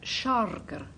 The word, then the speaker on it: sharger: I have to tell you that it's pronounced sharger. It's a Scots word.